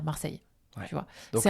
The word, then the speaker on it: Marseille: Hein, les gens de Marseille, donc du sud de la France, vont prononcer le E puisqu'ils ont un accent du sud. Notamment, ils vont dire Marseille, comme ça, alors que nous, on va dire Marseille.